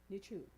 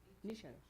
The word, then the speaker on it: Nietzsche: The next one is, and I don't know if I say his name properly, but it's Friedrich Nietzsche. Nisha.